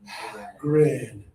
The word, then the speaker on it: grin: Now, again, extra air, lower tongue, grin.